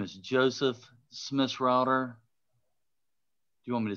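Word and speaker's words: Schmissrauter: the record please yes my name is joseph smith's router do you want me to spell it please it's a difficult spelling yeah s-c-h-m-i-s-s-r-a-u-t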